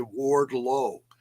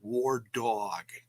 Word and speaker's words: Wardlow: say her name once they say Wardlow it's not war dog it's different I think